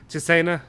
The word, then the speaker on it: Cesena: because I also said against Monza and against Cesena, is that right?